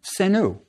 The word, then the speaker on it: Senu: We have three arrowheads, which looks like a plural, which would have been pronounced Senu.